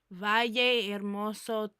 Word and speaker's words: Valle Hermoso: Valle Hermoso.